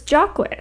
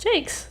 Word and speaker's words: Jacques: always assumed it was Jacques, because it's a French name, right? Jacques or Jacques, but apparently I went to his site and it had parentheses like Jakes, like it's pronounced Jakes.